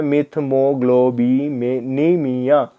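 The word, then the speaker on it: methemoglobinemia: और इसे हम कहते हैं मिथमोग्लोबिनीमिया. ग्लोबिनेमिया. एक्चुअल में थोड़ा प्रोनाउंसिएशन मेरे से भी ऐसे हो गया, मिथमोग्लोबिनेमिया. ओके, ब्लू बेबी सिंड्रोम बोलते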